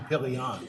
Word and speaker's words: Pillion: But he has to pronounce his name Pillion. Pillion. It just rhymes with million. Okay, Or billion.